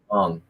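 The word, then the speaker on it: Hmong: Mong. Like Mong, just no H. Mong. The H Mom is style silent.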